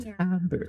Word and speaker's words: timbre: Pronounced timbre.